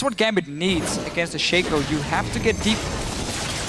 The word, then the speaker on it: Shaco: can get them down it's it's pronounced Shaco not Shaco that's how I read it